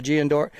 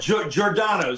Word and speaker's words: Giordano's: So, Giandora. How do you say it? Sorry about that. Giordano's.